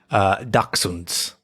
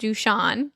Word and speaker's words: dachshund: They were 2 different types of dogs because my dyslexic brain saw dachshund and I was like, oh, that's pronounced Dushan.